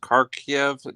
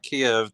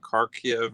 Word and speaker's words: Kharkiv: of this city is pronounced kharkiv not kiev the capital but kharkiv or something and it's close to